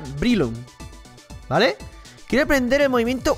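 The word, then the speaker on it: Breloom: son muy distintos pero si lo pronunciamos en inglés como debería se dira brilum vale Quiero aprender el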